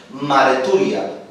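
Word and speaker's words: μαρτυρία: Según el griego testimonio, lo cual significa también evidencia dada, o bien judicial, o bien generalmente, ¿saben cómo se pronuncia en griego? Marturia.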